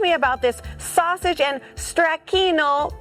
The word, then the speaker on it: stracchino: Okay, so talk to me about this sausage and stracchino crostoni.